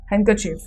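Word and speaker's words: handkerchief: Second word है हैंडकरचीफ. हैंडकरचीफ में आप क्या है? हैंडकरचीफ, हैंडकरचीफ. आपका डी साइलेंट आ रहा है.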